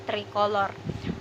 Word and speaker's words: tricolor: Dan jika C bertemu dengan huruf mati seperti O, U, A dan huruf mati lainnya akan dibaca K. Jadi di sini dibacanya tricolor.